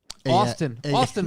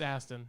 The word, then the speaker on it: Aston: Austin Martin. How do I spell it? It's Aston.